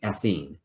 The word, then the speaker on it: ethene: e this is athene the ene ending pronounced with the long e ethene thank you and what